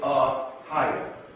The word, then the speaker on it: Ahayah: The pronunciation is Ahayah in the ancient Phoenician.